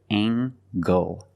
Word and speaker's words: angle: is a right angle use the nasal plus the hard G angle angle this is a